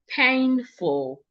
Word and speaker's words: painful: Painful. The word has two syllables which means I'm stressing the first syllable.